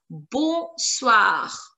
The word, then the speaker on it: bonsoir: Let's move on to the next word, that is bonsoir. Bonsoir. Bonsoir. It's a beautiful word. Bonsoir, which means good evening. Bonsoir. N is going to be silent, guys. Bonsoir. Bonsoir.